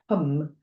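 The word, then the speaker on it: ham: And the mantra is h a m but it's pronounced hum.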